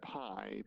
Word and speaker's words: Pi: The monks It's pronounced pie, but that's beside the point.